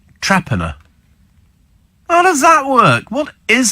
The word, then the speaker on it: Torpenhow: get on with it the weirdest one pronunciation is torpenhow in Cumbria it's actually pronounced Traer how does that work what